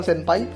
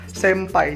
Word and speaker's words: senpai: nih pasien-pasien Thai air BTW cara baca itu bukan senpai terbaca cara bacanya itu bahkan Sentai bukan resep pai melainkan sampai jadi huruf dalam bahasa Jepang itu n ketemu dengan t atau b bakal menjadi m yaps Jadi huruf n yang